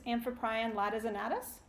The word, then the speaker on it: Amphiprion latissimus: And if you're wondering how that's pronounced, it's Amphiprion latissimus.